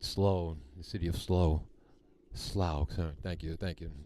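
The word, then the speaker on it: Slough: playing fields at SLO the city of slow slow thank you thank you pronunciation I didn't get that right all right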